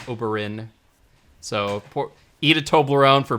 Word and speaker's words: Oberyn: of prince oberone oberyn i always frances auberin like obelisk the tormentor i always call say his name wrong i always call it oberon like uh like some sort of like fantasy creature but not oberyn so eat a toblerone